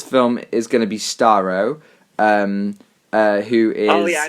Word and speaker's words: Starro: Yeah, Starro.